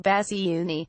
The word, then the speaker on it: Bassiouni: cancer his family said Mr Basu knee pronounced bassy Unni a descendant of a